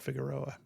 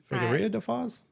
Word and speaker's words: Figueira da Foz: And I don't think it's called Figueroa. I think that's just how I'm pronouncing it. That's how I was saying it. Figueira da Foz? Oh, man, I'm so bad at that. That's the Americanized version.